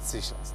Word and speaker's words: Seychelles: Is it Seychelles? That's how you pronounce it.